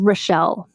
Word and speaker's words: Rachel: couple years ago about an actress named Relle. No last name. Like, it's spelled like Rachel.